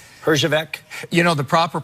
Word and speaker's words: Herjavec: From now on, your name is Herjavec."